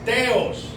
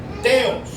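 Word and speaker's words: θεός: Ejemplo, dice Elohim en hebreo y el otro nombre sagrado que es impronunciable y hh, también le decían Adonay, que significa señor. Su equivalencia en griego es teos. Oiga lo que le digo. Teos.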